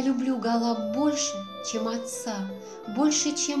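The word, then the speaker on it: Гала: свое имя из юности просила называть себя гола с ударением на втором слоге находясь на лечении в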